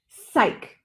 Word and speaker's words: psych: that starts with psy it's not beside it's psych psych so this sure is a curve and this is sigh psych so this word is